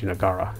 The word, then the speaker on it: nagara: VII nura VII nugur instead of gar F nagara it's N na nagara nagara helpless white boy